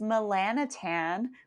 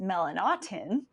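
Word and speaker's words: Melanotan: skin that was researched back in 1998 was melanatan which is actually more properly pronounced melanotin and then derived from that was pt141 which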